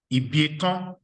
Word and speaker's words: Ibieton: problem with, but the surname is pronounced Ibieton. Can you try? Ibieton. Can you try that? Ibieton. Correct. That's a good attempt. So Ibieton, that's the surname. That's the way it is pronounced, which means procreation can never end.